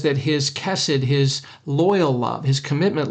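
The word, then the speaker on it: חסד: it's the Hebrew word cassid cassid probably pronounced more like cassid you got to get that guttural in there that guttural sound but cassid c h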